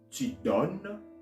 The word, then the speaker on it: donnes: You see, je donne, tu donnes, il donne, elle donne, on donne, all right? The second one, it has an ES, all right? But I'm not going to pronounce the S, all right?